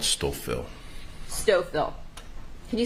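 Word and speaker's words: Stouffville: the outskirts of Toronto in an area called stoil stoil can you spell it please oh s t o u f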